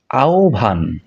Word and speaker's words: আহ্বান: বিভিন্নভাবে উচ্চারণ করি আহ্বান আহ্বান ইত্যাদি ইত্যাদি শুদ্ধ উচ্চারণ হচ্ছে আহ্বান আহ্বান এরপরের শব্দটিকে আমরা বলে থাকি প্রাশ্চিত্য বা